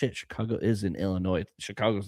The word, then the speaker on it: Illinois: up of mine is someone pronounced the S at the end of Illinois and we almost came to blows. I don't know if people do that. Illinois.